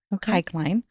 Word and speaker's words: Kikeline: Okay, so her name is Anna Kikeline, and I actually had to look up how to pronounce that. So that is how you say it. It's like bike line, Kikeline.